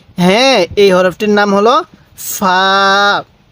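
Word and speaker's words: فاء: এই হরফটির নাম হলো ফা মুখে মুখে বলুন ফা ফা হালকা বাতাস বের করবেন এরপরে বলবেন এই হরফটির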